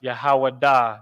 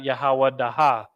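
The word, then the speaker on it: יהודה: So it's pronounced Yahawada, not Yahawadaha, right?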